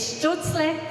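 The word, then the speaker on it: Stölzle: I should be able to pronounce it correctly, otherwise my husband might be upset. It's Stutzle Glass.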